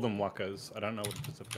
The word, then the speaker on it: waka: Maori called them wakas.